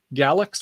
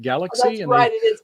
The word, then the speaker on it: Galax: we went to galax i thought it was um galax like galaxy no down here in virginia we call it galax oh sorry sorry you